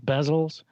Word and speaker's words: bezel: i hate this word i always pronounce it wrong bezels what are you going to say i almost say diesels i always want to say bees was like like like jeff bezos and uh a new